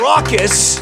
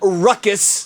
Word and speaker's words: raucous: he did it now he mispronounced the word raucous raucous 80 times it's not ruckus those are two different words raucous but at least